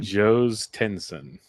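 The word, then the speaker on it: Jhostynxon: I already forgot how to pronounce his first name. Joe's Tensson. Joe's Tensson Garcia.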